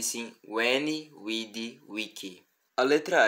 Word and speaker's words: veni, vidi, vici: uma palavra com V, devemos lembrar que é a letra U. Por exemplo, na célebre frase de Júlio César, ou melhor, Julius Caesar: eu vi, eu vim e eu venci. Não pronunciamos veni, vidi, vici, e sim veni, vidi, vici.